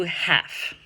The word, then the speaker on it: half: So let's do half. I drank half of my kombucha today. Half. HALF. The L, you don't say.